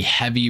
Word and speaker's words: HVY: One is on the HVY Barrage, or the Heavy Barrage, as some people like to tell me in the comment section all the time it's pronounced.